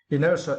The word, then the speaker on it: inertia: was uh inertia yeah inertia it is now right and for this words you need to Str the second syllable n iner it means